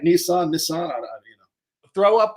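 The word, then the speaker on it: Nison: my my favorite CMT book was the Steve niss book I'm I was gonna say sounds like it am I pronouncing it right Nissan Nissan you know throw up a chart 22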